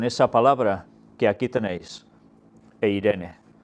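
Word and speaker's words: εἰρήνη: palabra que aquí tenéis, eirene. Es en griego, ya sabéis que se puede pronunciar Irene, y que es un nombre femenino.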